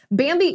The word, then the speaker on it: Bambee: Bambi is an HR platform built for you, for